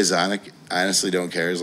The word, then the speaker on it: Xonic: memorable most people say Sonic I honestly don't care as long as you remember it I mean I pronounced it exotic and that's what I like I actually say that like sonic sonic um I was